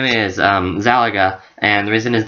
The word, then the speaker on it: Yxalaga: is that is because his name is spelled like galaxy only backward and there's an a so yes there is a silent y at the beginning of his name it's y x